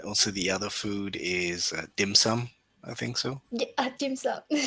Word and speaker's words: dim sum: pho, and also the other food is dim sum.